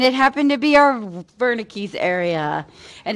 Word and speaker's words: Wernicke's: happened to be our wernicke's area and it's actually pronounced with a v so nice job guys